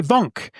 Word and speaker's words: VONQ: And Vonk is spelled VONQ.